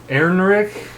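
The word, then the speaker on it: Ehrenreich: First off, Alden Enrich, Erinrich, Erinrich, I don't know how to say his name.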